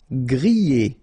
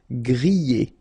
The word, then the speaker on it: grillé: Grillé. Okay, at the end you've got this E, and then remember, double L after E. Yé. Grillé. Grillé.